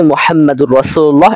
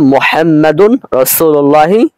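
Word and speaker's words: محمد رسول الله: বরং আমাদের বলতে হবে মুহাম্মাদুন রাসূলুল্লাহ সাল্লাল্লাহু আলাইহি ওয়াসাল্লাম। তাহলে খোলাসা কথা দাঁড়ালো এই যে অনেকে এখানে উচ্চারণ করে থাকে মুহাম্মাদুর রাসূলুল্লাহ, এটা ভুল।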